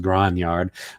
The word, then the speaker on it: grognard: history uh behind who and what the original grognard yes i know technically it's supposed to be pronounced gran yard but i am neither english nor french i